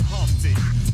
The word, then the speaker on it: Humpty: So just like introduce myself, my name is Humpty, pronounced with the umpty.